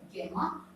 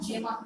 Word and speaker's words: gemma: cup-like receptacles, these are known as gamma or gemma cups. दोनों तरीके का pronunciation मिल सकता है।